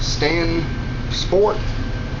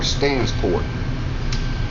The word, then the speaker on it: Stansport: for the state is either pronounced stand sport or stansport this is the cook